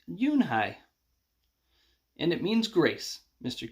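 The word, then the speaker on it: Unhei: Your name is Uni? He asked with his eyes open wide. Yunhai looked quickly at Mr. Kim, then turned to Joey. She nodded slowly. Yes, it's pronounced Yunhai.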